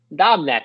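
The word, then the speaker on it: Dobnak: Dubneck.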